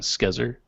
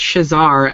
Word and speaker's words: Shazar: And I'm sorry, does he pronounce it Shazar and not Skezer? it's Shazar after the anime character from the Vision of Escaflowne.